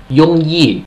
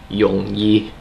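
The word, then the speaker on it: 容易: It's actually mid to low. It's a low tone falling. So instead of Yongyi, it's actually supposed to be Yongyi. Everything goes down falling. Ho Yongyi means very easy.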